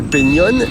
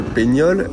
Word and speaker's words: Peñón: Bon, le Peñón, et non le Peñol, comme je le prononce depuis le début, qu'est-ce que c'est?